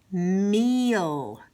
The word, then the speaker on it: meal: has e a hmm the e is gonna say a long e it's gonna say its name in the a is gonna say nothing so we have mm meal meal as opposed to this